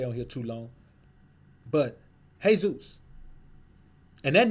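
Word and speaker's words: Jesús: So it's not pronounced Jesus. It's pronounced Jesus.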